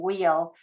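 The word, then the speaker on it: Weil: of gertrude and her she pronounced her last name wheel she was a famous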